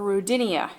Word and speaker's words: Rodinia: And eventually, these small cratons from the Archean would come together to form Rodinia, or Rodinia, if you prefer the British pronunciation.